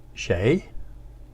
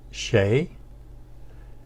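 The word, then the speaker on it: 谁: let's learn the word shay shay it's a rising tone shay and this means who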